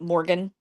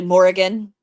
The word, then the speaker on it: Morrigan: I've also learned to not correct people because people think it's just Morgan, like Oh, okay. just Morgan, and it's actually Morrigan, and it's got like in it. So it's like an extra syllable.